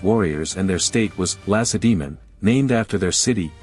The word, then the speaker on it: Lacedaemon: and their state was Lacedaemon, named after their city, a name, incidentally, that even experienced historians often mispronounce, placing the accent on the final syllable.